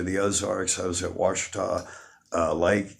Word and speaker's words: Ouachita: When I first got up here to the Ozarks, I was at Ouachita Lake. You spell that Okachita, but the Indians say Ouachita.